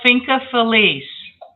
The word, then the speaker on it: Finca Feliz: My farm is called Finca Feliz. Finca Feliz? How do I say that? Spell that?